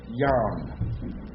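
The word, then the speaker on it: ים: all right Jerry y yam as opposed to Yum all right so don't confuse that yum is day yam is sea or west why would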